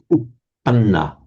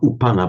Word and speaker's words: uppanna: This also be careful about the doubling of consonants. So upanna, not upana, but upanna. Manna. Upanna, and you've really got to hold it.